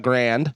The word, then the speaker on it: Grande: a different like Ariana grand yeah it's not grande it's Grand and now that he cut